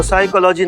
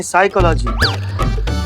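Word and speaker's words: psychology: तो साइकोलॉजी नहीं, साइकोलॉजी। P silent होता है।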